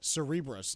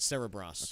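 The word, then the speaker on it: Cerebras: last week the chip company I found out it's actually pronounced uh Cerebrus not Sarah Brass okay so Cerebrus goes public and immediately fetches a valuation of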